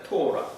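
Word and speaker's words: תורה: 토라.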